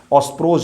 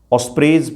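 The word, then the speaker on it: Ospreys: जरूर ध्यान में रखिएगा ऑस्प्रेज ही सबसे सही उच्चारण जो होगा ऑस्परेज ही होगा न्यूज़ वालों ने एक दो वीडियो देखा उसे बोल रहे ऑस्प्रोज ऑस्प्रेज कहा जाता है सही उच्चारण तो यही होता है इसका नाम इसलिए मैं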